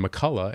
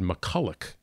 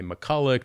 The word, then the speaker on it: McCulloch: We were saying McCullough, and then when he went to say his name, he said McCulloch. Mm. And we all went, wait a minute, how do you say your name? He goes, well, the men in my family say McCulloch, the women say McCullough.